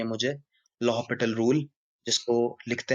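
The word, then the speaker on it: L'Hôpital: आपको सिखानी है मुझे, लॉहपिटल रूल, जिसको लिखते हैं हम एल हॉस्पिटल रूल। उसको प्रोनाउंस करते हैं, फ्रेंच वर्ड है, तो लॉहपिटल कहते हैं।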